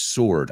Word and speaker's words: sword: Es como S-O-R-D, sword.